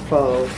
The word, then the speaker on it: pho: The text contains merely the Tibetan word HPHO, pronounced pho, meaning transference of the sum total or aggregate of karmic propensities, composing or bound up with personality and consciousness.